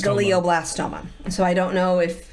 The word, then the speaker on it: glioblastoma: I can't pronounce it you're very close when you say geoplastoma it's glioblast glioblastoma so I don't know